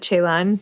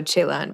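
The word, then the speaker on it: Celan: by you pronounce it chaan chaan Chan either San or chaan if you use a Romanian pronunciation or a German pronunciation yeah I'm gonna go chaon because I don't know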